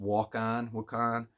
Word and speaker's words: Wakan: So it's pronounced Wakan, and it's a sacred inhabited by a spirit.